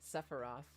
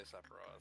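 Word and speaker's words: Sephiroth: Yeah, I think I think this is actually a pronunciation that is acceptable. Really? Sepharoth. Yeah, I think there Sepharat, but some people just say Sephro.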